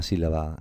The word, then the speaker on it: sílaba: Pues son aquellas que tienen el acento en la antepenúltima sílaba, o sea que la sílaba tónica es la antepenúltima.